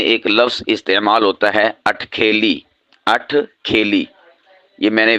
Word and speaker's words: اٹھ کھیلی: اس کا مطلب ہوتا ہے اترا کر چلنا، یعنی ناز و نخرے سے چلنا۔ تو اس کے لیے جو صحیح تلفظ ہے وہ ہے اٹھ کھیلی یا اٹھ کھیلیاں کرنا۔ ہاں، بعض اسے ازراہ